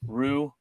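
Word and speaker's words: Ryu: It's Rue.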